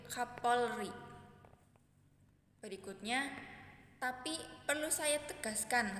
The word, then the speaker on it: Kapolri: dilihat dari kutipan tersebut terjadi kesalahan pengucapan bunyi pada kata kapori pada kata tersebut terjadi penghilangan fonem konsonan l pada tengah kata pengucapan bunyi yang salah dari kata kapori seharusnya yang benar yaitu Kapolri berikutnya tapi perlu saya